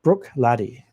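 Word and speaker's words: Bruichladdich: It's Brook Laddie. Echo videos, whiskey pronunciation videos.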